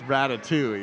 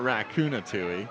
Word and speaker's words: Ratatouille: it this whole like it's Ratatouille it's not racuna tuille right but then that